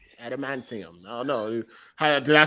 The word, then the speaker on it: adamantium: he said how are they say adamantium adamantium oh no did i say it right no